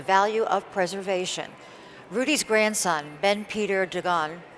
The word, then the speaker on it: Ben Peter Dagan: Rudy's grandson, Ben Peter Dagan, did I pronounce that right? Yeah.